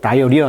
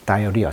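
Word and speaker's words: diarrhea: 서치 예를 들면 어리어 다이어리아 하면은 이제 설사가 되겠죠 뒤에가 강세가 있어요 다이어리아 설사라고 하죠 타티스 관념이라고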